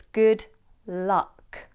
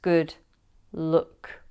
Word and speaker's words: good luck: But in RP, it's good luck, not good look.